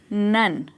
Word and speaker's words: nun: ये वाला यहाँ पे नाउन है और ये है नन। तो याद रखिए, NUN हो गया नन और NOUN हो गया नाउन, जिसे हम संज्ञा भी बोलते हैं हिंदी में।